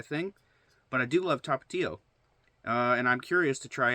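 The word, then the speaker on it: Tapatío: How do you pronounce Tapatio? Well, you pronounce it the way I pronounced it. But they even like spell it out phonetically for you. Tapatio.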